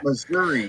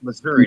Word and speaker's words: Missouri: it's Monroe yeah Monroe Missouri it's Missouri not Missour or Aransas about about